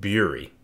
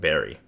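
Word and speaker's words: Bury: get another goal against beery I mean sorry Barry it's pronounced Barry CDOs are four no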